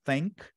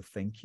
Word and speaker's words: thank: As duas outras ali de baixo, eu tenho thank, que é o verbo agradecer, por isso que eu digo thank you. Então eu digo thank you. Thank you. E a outra é tank. Tank é um tanque de guerra, por exemplo. Então, é interessante treinar o TH.